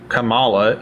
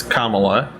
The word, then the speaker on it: Kamala: to pronounce her name you said Cala it's Kamala so apparently literacy ain't